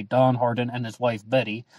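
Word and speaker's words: Bettye: harden and his wife betty i believe it's pronounced betty it's written b-e-t-t-y-e and they solve the 408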